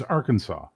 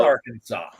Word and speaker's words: Arkansas: state you guys get it right on is Arkansas. Arkansas. Kansas. Yeah, No! it's Damn it!